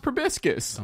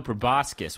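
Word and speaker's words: proboscis: uh well in this fantasy Universe maybe it's pronounced probiscus no no friend you're embarrassed it's not probiscus my sweet friend no prascus with an O Jes probiscus is a flower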